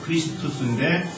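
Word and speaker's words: Χριστός: 그러니까 헬라어 원어의 의미로 우리가 발음을 한다면 크리스투스입니다. 크리스투스인데 그것이 이제 우리말 음력으로 해가지고 우리가 오늘날에는 그리스도라고 이야기를 하게 되죠.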